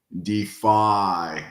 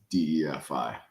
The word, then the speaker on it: DeFAI: when I pronounce it I tend to just draw out the last syllable so I say defy and that way you know people understand it's not just DFI yeah spread it out